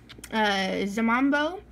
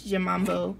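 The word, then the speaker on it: 잠만보: Zamambo is Snorlax's name in Korean, and I'm sure I'm butchering the pronunciation. The J is kind of like a J and a Z at the same time.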